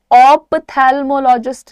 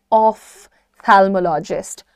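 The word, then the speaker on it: ophthalmologist: Pronunciation सुनो, ऑप्थैल्मोलॉजिस्ट नहीं है, ऑफ्थैल्मोलॉजिस्ट, ऑफ्थैल्मोलॉजिस्ट, थैल्मोलॉजिस्ट, ऑफ्थैल्मोलॉजिस्ट।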